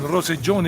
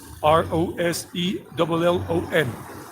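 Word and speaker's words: Rosellón: Roseellon. Double L always pronounced J in Colombia. I don't know about other Spanish-speaking countries, but in Colombia, the double L sounds like a J, like J, Jack or junk.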